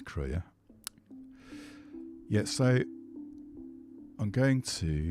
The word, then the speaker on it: Krea: I've got to stop calling it CR. I've been calling it CRE for ages, but now I'm more soable. I'm hearing people pronounce it correctly, which I think is crea.